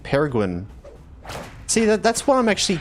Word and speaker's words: Peregrin: Like Peregrine. See, that's what I'm actually confused about. I don't think I've ever actually really thought about what... There's not as much emphasis on the second R.